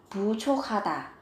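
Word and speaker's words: 부족하다: là thiếu, hoặc là buchokata, buchokata, buchokata cũng mang nghĩa là thiếu. Các bạn chú ý về cách phát âm, các bạn nối âm lên, phát âm thành âm khờ.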